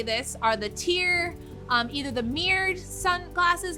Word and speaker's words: TYR: but they're the me the tyr which they pronounce it tyr use um goggles the reason being is i